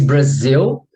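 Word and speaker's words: Brasil: with okay so like in Portuguese Brazil it's spelled with an S because after uh before the I the S sounds like a z okay so but I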